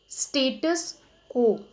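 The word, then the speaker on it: status quo: हाउ डू we pronounce this, स्टेटस को।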